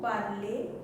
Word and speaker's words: parlez: If you are using elle, then again elle parle, vous parlez, though there is z, but it is not pronunciation of z.